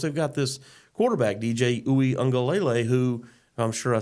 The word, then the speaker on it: Uiagalelei: And, of course, they've got this quarterback, DJ Uiagalelei, who I'm sure I said his name wrong, but you got it.